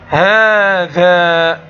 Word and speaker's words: هذا: هذا، هذا. كما ترى ماذا نطقت بعد الهاء؟ هذا. واضح أنني نطقت ألفا، ولكن هذه الألف لم تكتب كما ترى في هذه الكلمة.